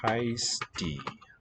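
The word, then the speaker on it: הײסטו: charts here heisti okay the spelling just yeah space for an i suppose so uh the emphatic letters and then ooh in the spelling and the pronunciation is heisti and it means are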